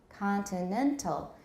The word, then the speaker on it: continental: or tonic stress works continental it's higher because it is a tonic stress but khan also has a stress which means if two stresses get too close together and we want to avoid that we can push the stress back more towards the beginning of the word and do we have